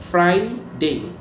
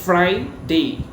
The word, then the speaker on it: Friday: ফ্রাইডে। ফ্রাইডে। নট ফেরাই, ফ্রাইডে।